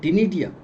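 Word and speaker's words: ctenidia: लेकिन विशेष नाम इसका टिडिया सी साइलेंट होता है टिडिया जैसी रचना होती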